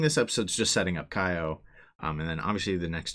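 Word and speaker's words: Kayo: The second one really gets you thinking about Kaio. That is her name, right? Yeah, Kaio.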